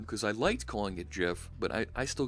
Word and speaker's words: GIF: The creator of the graphics interchange format, GIF, does call it JIFF because it's a hard G, JIFF. But it's graphics, it's a soft G. So I get why, and I know it's wrong. I'll call it GIF for right now.